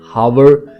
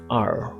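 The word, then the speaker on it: hour: होनेस्टी नहीं इट्स ऑनेस्टी हावर नो इट्स आर here no इट्स एयर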